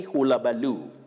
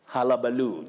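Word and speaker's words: hullabaloo: but you say circumstantially don't say hula balu that you takes the mid central sound a halabaloo just like hal city then we say the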